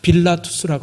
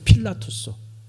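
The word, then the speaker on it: Pilatus: 호수 옆에 산이 빌라투스라고 하는 산이 하나 있어요. 필라투스. 그 필라투스가 뭐냐면 빌라도가 거기에 와서 자살을 했어요. 그래서 그 산 이름이 필라투스예요. 몰랐어요? 그래서 그 필라투스가 빌라도라는 뜻이에요. 빌라도의 그 라틴어식 발음이 필라투스거든요.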